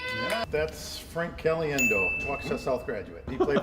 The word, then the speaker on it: Caliendo: Frank Cali. Frank Caliendo. Well, that's Frank Cali. Of course. Frank Caliendo. That's Frank Cali. Looks like Caliendo. Yeah. Frank Caliendo. That's correct. Yeah. That's Frank Caliendo, walk south graduate.